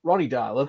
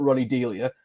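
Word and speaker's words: Ronny Deila: than that so we've got ronnie darla who i'm probably pronouncing wrong it's not ronnie dalia as i keep seeing let's not be having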